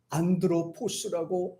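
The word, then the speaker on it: ἄνθρωπος: 두 번째는 이제 헬라어 원어에서 쓰는 발음인데 요 사람이라는 말 자체를 안드로포스라고 합니다.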